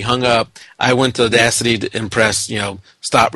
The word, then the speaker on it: Audacity: that that was yeah it's Odyssey I use uh is it Odyssey or audacity maybe audacity audacity yeah that's it audacity I thought I've been saying it wrong all this time I